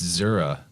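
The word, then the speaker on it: זרע: In Hebrew, it's Zera, Z-E-R-A phonetically. Okay.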